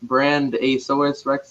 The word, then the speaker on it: BrandAsauresRex: you said it right it's just one word but a lot of people like to break it up but it's all good